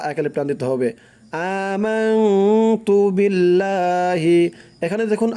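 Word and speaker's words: آمَنْتُ بِاللّٰهِ: ইমানে মুজমাল হচ্ছে আমানতু, আ এক আলিফ টান দিতে হবে, আমানতু বিল্লাহি, বিল্লাহ লা এক আলিফ টান দিতে হবে, আমানতু বিল্লাহি। এখানে দেখুন আল্লাহ শব্দটা কিন্তু লা উচ্চারণ হবে, কারণ হচ্ছে আল্লাহ শব্দের পূর্বে জের, এখানে পেশও নাই জবরও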